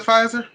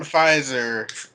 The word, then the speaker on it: Pfizer: like luxury rich yeah p on pfizer makes it sound royalty hey cause the p silent the silent p finds her i mean